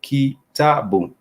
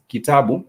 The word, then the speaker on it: kitabu: For example, the syllable in the word kitabu, kitabu, that is a vowel sound boom, which has the consonant B and the vowel U to make the syllable boom, boom, kitabu, kitabu.